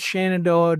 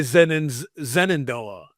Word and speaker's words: Shenandoah: I work at Shenandoah Nursing, and they're like Shenandoah, and I can't. And I can't stop saying you guys. You're like, I gotta say Zenandoah.